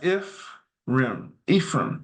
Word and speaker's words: Ephraim: In modern English, the language is In modern English language, it is typically pronounced as Ephraim, right?